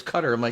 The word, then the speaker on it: Qatar: I I It seems like it should bear if you feel like that's an American way to pronounce it, but everybody corrects like it's cutter.